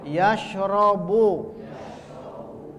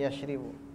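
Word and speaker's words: يَشْرَبُ: Yajlisu, yasjudu, yadkhulu, yakhruju, yarji'u, yashrabu. Nah, ro bacanya, coret. Yashrabu, bukan yashribu.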